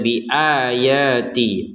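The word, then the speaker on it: بِآيَاتِ: Kemudian bi ayati, a-nya 2 harokat, iya-nya 2 harokat, ti-nya juga 2 harokat.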